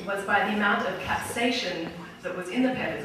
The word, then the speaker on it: capsaicin: And the way that the peppers were measured was by the amount of capsaicin that was in the peppers, which is what actually makes the peppers spicy.